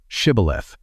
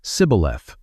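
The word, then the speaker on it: שִׁבֹּלֶת: But the dialect of the Ephromites did not include the shh sound. When an Ephromite tried to speak the password, he could only say cibth.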